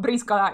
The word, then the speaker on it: Briscola: But just so you know, Briscola is the correct name because it's an Italian card game. So I'm going to use the Italian pronunciation. But okay, Briscola off he goes, just